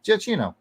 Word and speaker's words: Giacchino: Incredibles music was composed by Michael Giacchino. That's probably how it's pronounced. Giacchino.